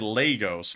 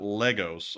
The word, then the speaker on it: Lagos: I said Lagos, not Legos.